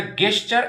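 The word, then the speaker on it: Gestures: and convenience ওকে তো এখান থেকে আপনি সোজা গেসচার্জ এন্ড মোশনস এই অপশনটি খুঁজে বের করবেন জি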